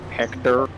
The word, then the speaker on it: Hector: Nah, it doesn't have an accent, you don't pronounce it like that. Just Hector.